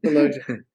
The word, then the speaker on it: Sulojana: Did I pronounce that correctly? Solojana? Solojana.